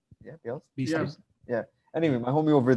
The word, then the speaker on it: Bielsa: Bielsa? Yeah, Bielsa.